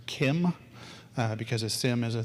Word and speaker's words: CIEM: going to see ciem which is supposed to be pronounced Kim because of sim is